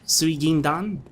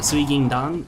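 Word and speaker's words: 水銀弾: I believe that right there is pronounced suigindan. Correct me if I'm wrong. I know it's suigin, which is basically silver or mercury, quicksilver or mercury. And dan, I believe, is how that character is read when it's attached to specifics of a bullet.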